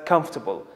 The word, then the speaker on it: comfortable: This word can be tricky because of its spelling. Because of this spelling, many people, or some people, let me say, pronounce it as comfortable, which is wrong. The correct pronunciation is comfortable. Maybe in some countries or some cities it's comfortable, but it's never comfortable. Let's use it in an example.